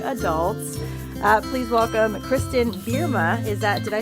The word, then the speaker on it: Bierma: are now young adults uh please welcome Kristen berma is that did I say it correctly you